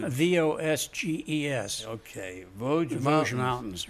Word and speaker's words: Vosges: In the you pronounce the mountain range for me. Vosges. Vosges. Vosges.